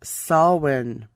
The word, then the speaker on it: Samhain: h AI n it's an Irish pronunciation pronounced Sol hwon soin was a period from